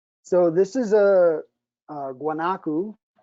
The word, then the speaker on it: guanaco: so this is a guanacu they pronounce it differently in different places but if i guess in english it would be guanaco the pronunciation down there is wanaku and uh this is